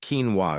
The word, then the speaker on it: quinoa: And it all began with a bowl of quinoa at dinner. Meet quinoa, nature's forgotten protein. Quinoa, pronounced quinoa, is often mistaken for a grain.